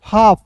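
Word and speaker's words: half: एच ए एल एफ हाफ।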